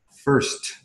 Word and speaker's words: first: Por ejemplo, first. First. Sí, con T. Okay. Con T. No es first.